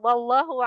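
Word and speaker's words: والله: Wallahu alimum bidur di sana coba. Wallah. Heeh. Lul jalalah dibaca dua harakat tebal karena sebelumnya fathah.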